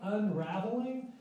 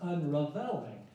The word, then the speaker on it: Unraveling: the final piece um it looks like unraveling and you could pronounce it that way but the composer actually intend be pronounced unring he was inspired by revel's bolero and if you're familiar